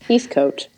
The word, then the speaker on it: Heathcote: Heathcote. Heathcote is how I was saying it forever. And then when you did the podcast search, I was like, oh shit, I've been saying it wrong.